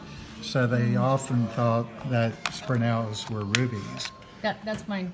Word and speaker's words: spinel: This is spinel. Spinel. Spell it for us.